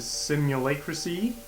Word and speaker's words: Simulacracea: Web I am telling ya welcome back to simulate cracy which apparently is how you how you pronounce that we're talking to willow and it's